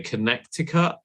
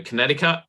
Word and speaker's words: Connecticut: sorry so as a Brit I would say connectica but I know it's there are different ways of pronouncing it but you don't do the hard in the middle so Connecticut Connecticut yeah conut hey we're lazy when it